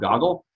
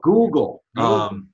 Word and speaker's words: Google: I think there's this thing called Goggle. Am I saying it wrong? Yeah. Oh, Google.